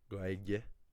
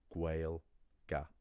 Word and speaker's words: Gaeilge: And then, I don't even know if I want to say this, the single biggest mistake that is made when pronouncing Irish, unfortunately, is the name of the language itself. Gaeilge, pronounced as Gaelga.